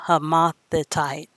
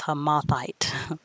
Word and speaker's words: Hamathite: the zimmerite and the homothetite and afterward were the families of the canaanites spread abroad i mispronounced that word i think it's hamathite okay verse 19 and